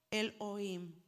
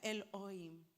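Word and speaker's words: אֱלֹהִים: mire esa escritura hermosa se pronuncia el oí definición Dios el Dios supremo mire Qué hermoso est Esa es la escritura original y así se pronuncia el oí me gusta que tiene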